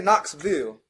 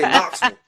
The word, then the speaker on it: Knoxville: to Knoxville Knoxville so they don't say Knoxville they say Knoxville all all all one syllable Knoxville right so I